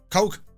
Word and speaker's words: Kok: How do you pronounce that, Murph? Coke.